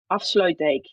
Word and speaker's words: Afsluitdijk: Afsluitdijk.